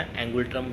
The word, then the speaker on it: ngultrum: है थिम्पू, और इसकी जो करेंसी है थोड़ा प्रोनाउंसिएशन में आप देख लेना, एंगुलट्रम जिसको हम बोलते हैं, NGULTRUM।